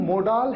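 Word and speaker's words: modal: अब helping verb में भी एक होती है मोडाल हेल्पिंग वर्ब, जिन्हें आप मोडाल या मोडल प्रोनाउंस करते हैं। दोनों तरीके से प्रोनाउंस किया जाता है।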